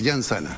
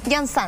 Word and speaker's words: Llanzana: con nuestro invitado Llanzana, abogado. Bien, es un poco difícil el apellido, abogado. Es un apellido no soy catalán, la única que se confunde, ¿no? Se pronuncia como Y, Llanzana. Llanzana.